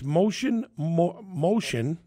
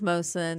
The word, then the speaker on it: Mohsin: She is the a wholesale mortgage broker, and it's Mohsin. Am I saying that right? It's Mohsin. Mohsin, sorry. It's okay. You got to tell the dumb Italian kid, don't pronounce the H.